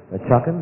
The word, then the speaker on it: Chakan: I mean, Chakan, that's how you pronounce it.